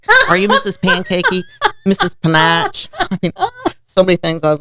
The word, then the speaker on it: Panache: Also with the name because nobody could say panache at the time and you didn't hear that word and I can remember people calling me Mrs. Pancakey. Are you Mrs. Pancakey? Mrs. Panache.